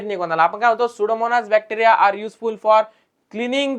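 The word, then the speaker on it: Pseudomonas: लक्षात येईल सगळ्यात पहिल सुडोमनास बॅक्टेरिया ओके आर युजफुल त्याचे स्पेलिंग बघा पी पासून स्टार्ट होते पण पी सायलेंट असत बरोबर नाही जसं की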